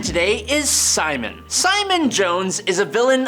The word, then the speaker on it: Psimon: All of that, but he basically just calls himself Psimon, but cool because there's a silent P in front of it, so we all know that he has psychic powers.